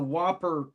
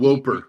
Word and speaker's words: WOPR: In case you guys are wondering, the Whopper anagram stands for War Operation Plan Response. It's WOPR. It's not spelled with an H or the almost like extra Whooper. PE. Yeah, Whooper.